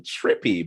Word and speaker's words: TRP.P: But talk to me about the name Trippy, but it's spelled Trippy.